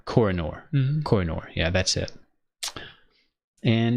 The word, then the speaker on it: Kohinoor: have this how do you say that Matt coronor coronor Kohinoor yeah that's it and it's pretty much it